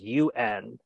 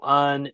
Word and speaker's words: un: it down, it says UN, and your English brain wants to go un, une, it's un. That is how you pronounce the number one in France, in French, un.